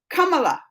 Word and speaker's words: Kamala: Kamala. This way you will say it properly. Kamala. So it's not Kamala. Not Kamala. It's Kamala. Kamala.